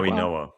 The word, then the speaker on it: Mauigoa: The the Florida offensive tackle, Mauigoa? Mau- Mau- Mauigoa. Mauigoa. Okay. I'm really bad with names if if you haven't learned that over the past couple years. But Mauigoa, you could also look at him and say